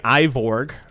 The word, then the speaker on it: Ivorg: Looking Ivorg, as their name is actually pronounced, we'll go ahead and secure map 1.